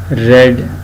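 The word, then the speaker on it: read: Being रेड बाय हर, ये रेड लिखा हुआ है, ठीक है जी, RED स्पेलिंग रीड वाली, लेकिन इसको पढ़ा रेड जाता है क्योंकि ये जब पैसिव वॉइस आएगा इसमें वर्ब की थर्ड फॉर्म लगेगी, ठीक है जी।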